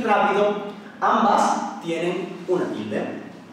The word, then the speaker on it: rápido: Pues aquí tenemos dos ejemplos, matrícula y rápido. Y como podemos ver, la sílaba fuerte o sílaba tónica es la antepenúltima, matrícula y rápido.